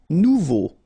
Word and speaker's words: nouveau: Nouveau. Remember, combination of E, A and U together, it's O. So you get nouveau.